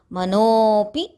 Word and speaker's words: मनोऽपि: After Mano, you should give an extra matra because it is a avagraham there. We have to pronounce it as Manopi Brumadhye.